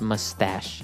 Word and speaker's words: mustache: little bit uh difficult to understand how you pronounce it because it's m u s t a c h e so there's no really sh sound like sh but you pronounce it mustache mustache yeah so that's one kind of facial